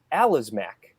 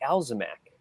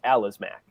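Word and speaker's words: Alazmec: tross aliens video uh the it's the alazmac not the alzamac oh the the guys with the possessive locals yeah it's the alice according to who according to anybody who can read well i know but pronunciations and star wars can always go like anyway i mean if it's a l a z a l oh a l a z m e c it's alas mac but the other day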